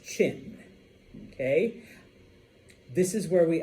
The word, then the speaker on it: Qin: And I know it's Qin, but it's pronounced Qin, okay?